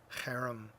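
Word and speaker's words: חרם: The harem, those Hebrew letters which you read from right to left, harem is how you say it, which is the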